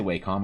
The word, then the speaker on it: Wacom: saying it wrong it it is Wacom w a m some people say wcom I don't know dep on how hard you want to pronounce the a I guess I'm pretty sure Wacom